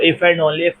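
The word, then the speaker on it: iff: ये जो बेटा यहां पर आई डबल एफ वाला इफ लिखा हुआ है ये कोई स्पेलिंग्स मिस्टेक नहीं है। इस इफ को हम लोग कहते हैं इफ एंड ओनली सिर्फ और सिर्फ तब तो इसको इफ एंड ओनली इफ पढ़ा जाता है।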